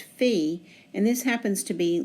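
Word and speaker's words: phi: letter elsewhere pronounced as fi a lot of times when it's used in the name of a club like f Theta Kappa they pronounce it as fi but in mathematics it's always pronounced fee and this happens to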